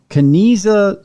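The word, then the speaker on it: Kanizsa: example of this is such completion is the kinesa square there it's spelled k-a-n-i-z-s-a square there are only four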